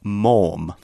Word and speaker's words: Maugham: you might be wondering how do I even pronounce that it is the G in the H are both silent so it's mom yeah it's kind of